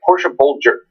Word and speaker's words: Portia Boulder: is that people like Portia Boulder older that is how her name is pronounced the Porsche Boulder she is one of